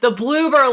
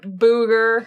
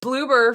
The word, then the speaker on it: Bloober: thing I see in the timestamp is the Bloober logo. The Bloober logo. Beautiful. Oh, man. We kept mispronouncing the name earlier, calling them everything but what they actually were. Just complete disrespect. Booger.